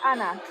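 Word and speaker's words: Ana: And just so I'm correct, is it Anna or Anna? I'm putting a mid. It's Anna, A-N-A. Anna.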